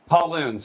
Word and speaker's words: Pallun: Yeah, Pallun. Pauloon. So it's like the boy's name Paul, and it rhymes with typhoon.